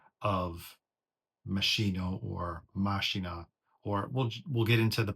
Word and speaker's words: Machina: Correct me if I'm mistaken, but I'm pretty sure it comes from Latin. Also, because the subtitle is The Machines of God, which machina actually means, that's what